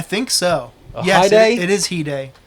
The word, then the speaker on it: hide: Yes, it is Hide. He said it was Hyde, so that's what I typed in, but I think you nailed it with Hide.